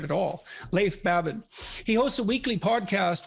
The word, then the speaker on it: Leif Babin: the dichotomy of leadership with fellow retired seal Leaf Bateman if I don't pronounce that right it's actually Lathe for Babin oh so I didn't pronounce it right at all Leif Babin he hosts a weekly podcast with Brazilian Jiu